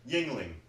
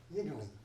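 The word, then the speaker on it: Yuengling: Yingling. Yingling.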